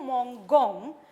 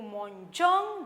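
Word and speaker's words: mangeons: So, without E, it becomes nous mon gong. To make it nous mon jong, they have written E before the ending.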